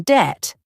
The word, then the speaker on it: debt: For example, in island, there's is silent, and in debt, the B isn't pronounced.